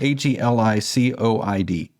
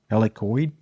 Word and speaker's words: Helicoid: can't pronounce it because I'm American but it's it's spelled h e l i c o i d helicoid helicoid yeah all right so the presentation started off this uh we're from helicoid we based in the United States and the